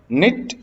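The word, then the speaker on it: knit: Kidnap kidnapped kidnapped, निट निटेड निटेड, ध्यान रखिएगा निट में जो के है वो साइलेंट रहा करता है।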